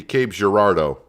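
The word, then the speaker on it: Cape Girardeau: I was also uh told to pronounce this city Cape Gerardo, which makes sense after the way they they typed it out for me.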